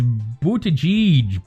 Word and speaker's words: Buttigieg: How would you pronounce it in Maltese, out of curiosity? It's Buttigieg.